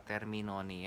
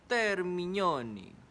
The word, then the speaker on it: Termignoni: Gue mau nunjukin kalian gimana caranya nge-pronounce kata Terminoni ya. Ini ada di sini. Termignoni, Terminoni.